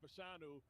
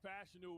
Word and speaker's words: Fashanu: Well, first of all, when you talk about it, it's funny because I've been saying Fashanu, and Fashanu, we just discovered that's how you pronounce it a couple of days ago.